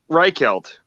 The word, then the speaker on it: Reichelt: h e i t I can't pronounce that reichelt reichelt thank you yup you're welcome thanks for saying it right nobody else gets that